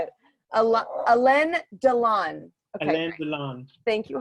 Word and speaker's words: Alain Delon: Aileen, or I'm probably saying it wrong.